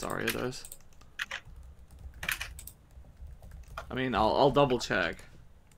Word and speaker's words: Ariados: Okay, what are we doing with a Ariados, as you said yesterday? Is that wrong? It's Ariados.